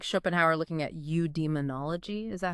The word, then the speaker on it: eudaimonology: It's more like Schopenhauer looking at eudaimonology. Is that how you say it? Eudemonology, yeah.